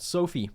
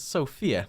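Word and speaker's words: Sofie: going to go adopt Sophie which is how you pronounce that name I've always said it as Sophia my bad she's just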